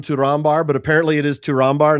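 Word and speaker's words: Túrin Turambar: call him Turin Turar, but apparently it is Turar, not Turbar because the MB is a double consonant and you're like, ah, of course it is.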